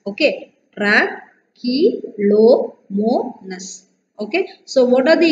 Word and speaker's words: Trichomonas: Okay, how to pronounce this? Trichomonas, T R A, tra, C H E, K L O, lo, M O, mo, N A S, nas. Trichomonas. Okay, Trichomonas.